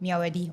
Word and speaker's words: Myawaddy: Okay, so Mae Sot is it's bordering to Myawaddy, right? Correct. That's very good. Did I pronounce that correctly? It's Okay, You did that Myawaddy.